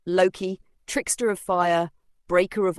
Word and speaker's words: Loki: Loki, pronounced Loki, is one of the most controversial figures in Norse mythology.